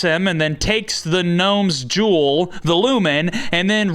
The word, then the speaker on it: gnome: Now this is where we get the exposition that Norm is a gnome from the underworld. And apparently they pronounce the G's in the underworld because it's pronounced Gnome and Gnorm respectively.